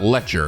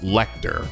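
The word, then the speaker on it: Lechter: guys say is pronounced, it's not Lecture, it's Lecter.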